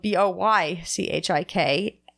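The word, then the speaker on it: Boichik: and it's a goodish word it's normally spelled Bo Y CH I K and it's pronounced boychik and in get ish it means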